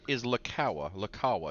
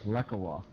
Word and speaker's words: Lekawa: While I've got you here, Richard, is Lakawa? Is that the correct pronunciation? I'm pretty sure I've got the Richard part right. Well, we will take Actually, no, it's Lekawa. Lekawa. We've been butchering his name the whole time.